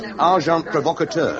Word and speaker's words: agent provocateur: The pronunciation, however, is agent provocateur.